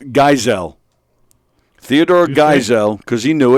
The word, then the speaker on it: Geisel: yep spelling bee um who was Theodore gazelle giesel Giselle whatever who's he better known as uh oh see there you go Andy bajanos it's pronounced Geisel Theodore Geisel because he knew it it's Dr